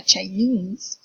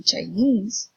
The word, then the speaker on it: Chinese: is knee in so China Chinese you see that fear in China the stress is on the first syllable but in Chinese mistrusts in the last syllable japan japanese portugal portuguese